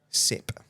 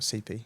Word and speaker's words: CEP: CEP. Yeah. It's not CP. CEP.